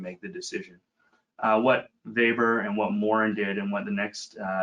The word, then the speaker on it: Weber: a from an old Supreme Court decision called vber it's spelled Weber but pronounced faor um where the Supreme Court was basically asked